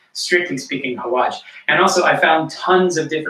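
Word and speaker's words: xawaash: So rather than using traditional Italian spices, as I mentioned before, we're going to be using something called hawaj, which is spelled X-A-W Aash, hawaj.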